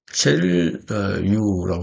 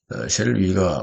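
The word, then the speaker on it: Cheryl Yu: 셰릴 유라고 하는 실제로 이제 위라고 발음이 되게 됩니다. 이 중국 전문가인데요. 안보연구원이기도 하고 셰릴 위가 발표한 내용인데 이게 우연이 아니다.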